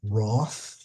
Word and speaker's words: Roth: uh represent both letters even though the H is not pronounced at all the in any event